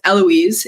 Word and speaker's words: Heloise: to pronounce the h it is so hard for us to just not pronounce the first letter at all look Italy is a